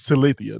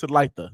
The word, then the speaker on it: Talitha: And I say, yo, this I don't even, I'm gonna butcher your real name up. This is Talithia. Like this is the real. This is Talitha. I know I'm gonna say it wrong. I know it. It's Talitha. But this is Talitha.